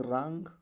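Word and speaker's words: wrong: Silent है, अर्थात क्या पढ़ा जाएगा? रॉन्ग।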